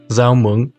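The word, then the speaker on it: rau muống: first off we have zao mung pronounced with a z sound in the north and zhao with more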